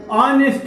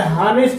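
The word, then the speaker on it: honest: उसी प्रकार ये ऑनेस्ट होता है, आ से स्टार्ट होता है, हानेस्ट नहीं पढ़ेंगे उसको, इसका जो प्रोनाउंसिएशन होगा ऑनेस्ट होगा, वो हमारा स्वर है और इसीलिए एन लगाया गया है।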